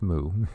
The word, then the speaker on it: Mu: ancestors teach us that pronounce moo like in a cow is the indigenous name